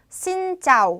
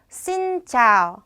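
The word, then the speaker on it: xin chào: 은 아 발음이 났었죠 그래서 신짜오 가 아니고 씬 짜 신차로 사용해주시면 됩니다 일단 씬 같은 경우에는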